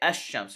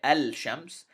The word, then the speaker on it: الشمس: in this case sheen because its articulation point is close to the lamb we merge the sheen with the alif or i'm sorry the hamza and we say ashams we don't say al-shams we say ashams now